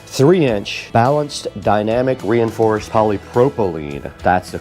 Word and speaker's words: polypropylene: This thing does have 6 3-inch balanced dynamic reinforced polypropylene. That's the correct pronunciation, and it does have one high resolution tweeter.